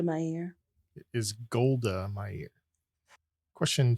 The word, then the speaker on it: Meir: Golda Meir. Golda Meow. What? Meir. Deva. Golda Meir. Kels. Golda Meir. And Twy. Go to my ear. It is Golda Meir.